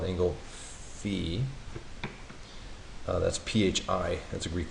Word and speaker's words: phi: That's PHI, that's a Greek letter. Sometimes you'll hear it pronounced phi, but I believe the correct pronunciation is phi.